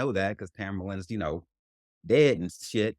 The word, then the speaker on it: Tamerlan: Tamarin. Tam- Tamarin? Okay. Tamerlan.